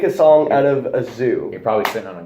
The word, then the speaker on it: ZHU: So I've been trying to talk to Ty about listening to this artist group called Zoo. I mean, really, it's just one producer. But you got to spell it. ZHU.